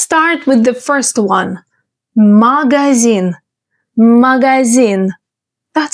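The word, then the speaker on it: магазин: Can you pronounce it the Russian way? Magazine.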